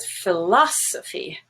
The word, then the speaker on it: philosophy: a moving syllable stress look at philosophy the first o is stressed it's olive now for philosophical it